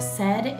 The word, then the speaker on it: said: language it's crazy that a and i make the e sound so this is just